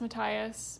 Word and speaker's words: Matthias: I realized it's pronounced Matthias because there's literally a pronunciation guide in the back of the book that I did not know about.